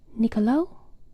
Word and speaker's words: Niccolò: He copied manuscripts in the early 1400s mostly, and it is ch when the C is followed by I or E, otherwise it's a k.